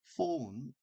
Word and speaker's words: phone: 그래서 휴대폰이라고 하면은 phone 우리가 이제 휴대폰이라고 하는데 폰이라고 하는데 자 이때 PHON은 우리말로 때 PH란 이 철자는 실제로는 F 발음이 납니다. F이기 때문에 F 발음은 윗니빨을 아랫입술을 살짝 깨문 형태로 튕기면서 폰입니다.